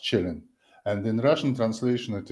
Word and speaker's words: Källén: to Alec and Joseph who corrected my initial pronunciation because uh in in Europe I had only keen function and then uh I understood that being Swedish citizen Gunnar Chillin uh should be pronounced chilling and in Russian translation it is all it